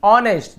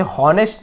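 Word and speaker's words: honest: आप इसे हॉनेस्ट नहीं पढ़ेंगे, इसे हम पढ़ते हैं ऑनेस्ट, एच यहाँ पे साइलेंट होता है, इसे नहीं पढ़ते हैं।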